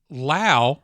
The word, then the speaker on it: Lao: Uh, Lao rhymes with wow. That's his That's his name. He says that.